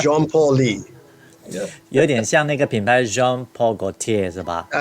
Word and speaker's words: Jean Paul Lee: It's Jean Paul Lee. 有点像那个品牌 Jean Paul Gaultier 是吧？对，对，一样的 pronunciation。